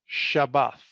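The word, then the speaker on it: שבת: Okay, so the root word of the word Shabbat is pronounced Shabbath, 7673 in Hebrew, and we see it mentioned in Genesis 2:2.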